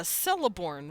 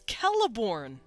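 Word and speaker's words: Celeborn: or something let's see you would pronounce that a celorn wouldn't you it's kelborn because even if it's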